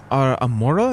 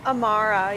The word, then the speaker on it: Amara: So you say your name was Amora? Is that what it was? Amara, yeah. Amara.